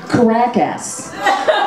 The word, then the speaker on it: Caracas: Yeah, or as we like to say in English, the proper pronunciation is Caracas, Venezuela.